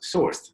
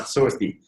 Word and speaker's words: source{d}: It's pronounced Sourced, not Sourcedy. I know that many people get confused about that. Me too at the beginning, so don't worry about that. We pronounce it like one word.